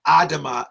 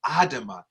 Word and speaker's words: Adama: But this sister carries the name of my daughter, my 16-year-old daughter, Samira Adama Nafia Shields.